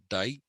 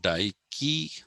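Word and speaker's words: Dike: people talk about is daiki okay it's not pronounced dyke it's pronounced daiki like nike who is also by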